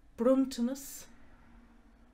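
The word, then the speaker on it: bronntanas: used for a garland a gift or present bruntiness bluntness or you might be more used to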